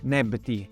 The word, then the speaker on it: Nebty: Tutto insieme il gruppo si legge Nebti, le 2 signore.